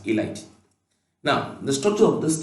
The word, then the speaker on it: ylide: as phosphonium a light when you pronounce this y l i d e has a light now the structure of